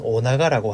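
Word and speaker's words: 尾長: 자, 이걸 일본어로 발음을 하면 오나가라고 하는데, 한자를 잘 보시면 꼬리 미자에 길장자, 그래서 뜻 그대로 꼬리가 길다, 긴꼬리 뱅에돔이라는 뜻이 되겠습니다.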